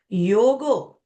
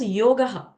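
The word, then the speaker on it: योगः: So, the first word, the first name that is assigned to Sri Mahavishnu, the creator, is Yogo. That means you can also pronounce it as Yogaha.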